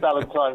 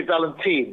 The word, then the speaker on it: Valentine: You said Valentine, which is right. Some people say Valentine, which is wrong.